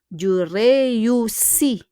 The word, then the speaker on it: réussis: But when we conjugate, we don't pronounce the S here. Je réussis at the end.